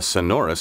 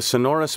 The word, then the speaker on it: sonorous: A sonorous speaker. The sonorous bells of a cathedral. You may have heard this word pronounced sonorous, with the accent on the first syllable instead of the second.